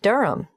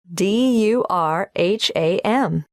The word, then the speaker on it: Durham: at one urongo street durham how do you spell durham d-u-r-h-a-m of course i should know that but it's just one of those names that sounds quite different from the way you spell it it is confusing i've